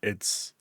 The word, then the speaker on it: AI: And then in Japanese AI uh is how you pronounce I as in like love I and then on top of that there's a visual motif of eyeballs everywhere.